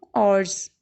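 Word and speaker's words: hours: ही had been reading for 2 आवर्स। आप आवर्स भी कह सकते हैं। एज नहीं साथ हम करेंगे, एज से साइलेंट है, हॉर नहीं कहेंगे।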